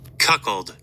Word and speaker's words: cuckold: It says a man, let me cuckled. So, we got the proper pronunciation.